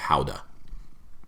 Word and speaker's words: Gouda: that she's produced and found out that it's pronounced howda nobody ever says how dumb but that's actually